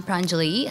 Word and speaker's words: Pranjali: lead hey everyone I'm pranjali so the emphasis is on the first a but you can call